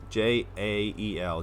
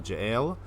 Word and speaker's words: Jael: Volume 4 is where it just really starts to get interesting because Jael, J-A-E-L, Jael, like I say it like Kal-El, like Superman, Jael, murders the first person and is about to get attacked.